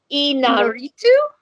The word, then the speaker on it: Iñárritu: It's Alejandro G. Iñárritu. Or Iñárritu. Iñárritu. Sorry if we mispronounced your name, sir.